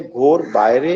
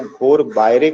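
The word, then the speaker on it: ঘরে বাইরে: Original Bengali में इसको घोर बायरे कहा गया, या स्पेलिंग इसका घेर बायरे।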